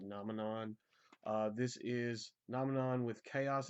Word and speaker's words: Nominon: I've always called them Dominion, but I think it's actually pronounced like Nominon.